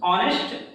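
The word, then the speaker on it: honest: ये ध्यान दें, हम ऑनेस्ट एच लेटर से शुरू हो रहा है, बट जो इसका प्रोनाउंसिएशन शुरू हो रहा है वो आ से शुरू हो रहा है, आ।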